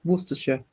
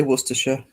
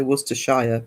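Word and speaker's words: Worcestershire: How do you pronounce Worersha? Oh, Worersha. Um, Worcester. Well, I say Worersha. I don't know if some people say Worershire, but Worersha.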